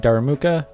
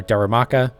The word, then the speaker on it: Darumaka: shiny hunting for a gallerian darumuka or Darumaka I always like say it wrong and uh just discussing